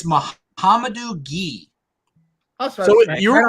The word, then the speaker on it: Gueye: Mohamedou Gueye. Okay. I don't know French. Ghee, like butter, like the.